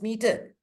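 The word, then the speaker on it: metre: Meter, normally we used to write it as M-E-T-R-E, meter. Pronunciation is meter.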